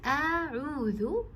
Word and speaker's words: أَعُوذُ: Do not mix the Hamza with the Ain. It's A'udhu. And the details of A'udhu,